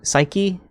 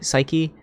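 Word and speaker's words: Saiki: Hopefully, I pronounced it right. Psyche. Psyche. I think it's S A I K I. Psyche.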